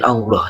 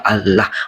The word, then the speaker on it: Allah: Di imanmu juga kamu mungkin kenal istilah Allah, tapi pelafalannya berbeda. Mungkin Allah, tapi ditulis dalam Latin dia Allah, A-L-L-A-H, ya kan gitu. Atau bahasa Arabnya Alif Lam Lam Ha, ya kan?